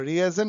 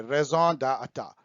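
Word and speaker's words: raison d'être: पाऊंगा, ये फ्रेंच है, इसको रिएजन नहीं बोलते हैं, रेजॉन बोलते हैं, रेजॉन डाटा, रेजॉन डेटा, रेजॉन डेटा। तो यदि बहुत क्रूड पढ़िएगा तो रेजॉन डी इटैट। तो रेजॉन डेटा जो है इसका मतलब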